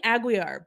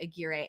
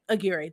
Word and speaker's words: Aguirre: yes oh i think i think i finally said her name right i was saying aguiar but i was i i was like i don't think that's right i heard somebody else say aguirre and i think that's correct okay aguirre that's what